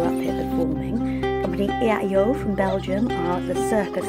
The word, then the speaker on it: EaEo: Next up, I'm speaking to company EaEo. Yeah. Is that how you say it? Exactly. It's a very complicated name to pronounce.